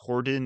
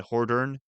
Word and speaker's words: Hordern: For what it's worth, I've heard his name pronounced Horden and Hordern. I think it's really somewhere in between that, but the pronunciation on the BBC Lord of the Rings radio production that I've heard him in, they tend to call him Horden, so I go with that, but if it's actually Hordern, I'm sorry.